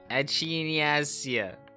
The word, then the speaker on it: Echinacea: Echinacea. That's how it's pronounced.